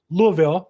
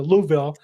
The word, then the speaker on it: Louisville: as investor based in Louisville the best I can say it it's really one syllable Louisville Kentucky Louisville uh Louisville Kentucky